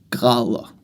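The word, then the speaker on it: grader: to know is to say degrees is gala and we spell it g r a d e r.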